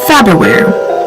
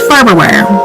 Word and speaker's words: Farberware: My daughter just brought it to my attention that it's spelled Farberware. Myself, my wife, and my daughter all thought it was Faberware. Are we the only ones? 1000% it's Farberware.